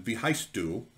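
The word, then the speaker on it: Wie heißt du: uh is a is a pun on german v heist du what are you called what's your name um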